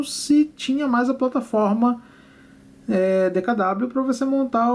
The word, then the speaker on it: DKW: em que a DKW também chamada de dkv foi dkv essa que por que que é dkv porque w se pronuncia V em Alemão então por isso que se falava dkv mas sempre foi DKW tá bom DKW essa